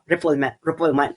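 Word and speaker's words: non-refoulement: Because of the principle of nonrefulma. Okay? But English speakers ah but English speakers pronounce it as as non reform reffulment.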